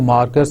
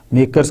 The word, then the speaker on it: MACRS: Pronounced as मार्क्स, इसको मार्कर्स के तौर पे लिया जाता है, मेकर्स के तौर पे लिया जाता है, सॉरी, MACRS मेकर्स।